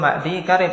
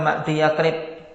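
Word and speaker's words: معديكرب: Dan cara bacanya yang betul ma'di karib, bukan ma'di yakrib.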